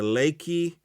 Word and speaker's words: Lekki: of october that is four days after the lakey i believe that's how you pronounce it l-e-k-k-i uh booth where uh state-sponsored